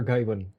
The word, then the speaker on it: Gawain: It's based on the Arthurian legend, Sir Gawain and the Green Knight. I always wondered how you pronounce Sir Gawain, but Gawain.